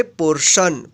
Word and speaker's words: PORTION: यहाँ पे देखिए टी के जस्ट बाद क्या आया है, IO आया है, इसलिए इस टी का श उच्चारण हुआ है। PORTION, इसको पढ़ेंगे पोर्शन।